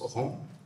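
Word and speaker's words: ranz: du rang des vaches qu'on écrit R A N Z mais qu'on prononce rang.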